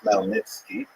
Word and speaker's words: Khmelnytsky: It's actually pronounced Khmelnytsky, with a guttural at the beginning.